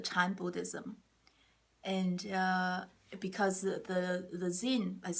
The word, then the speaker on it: Zen: It's the same word as Zen, Z-E-N. A lot of people are probably familiar with Zen. Zen is the Japanese way to say Chan.